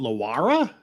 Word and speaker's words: Laura: bu of investig wait her name is Laura and she pronounced it Lara wait what can you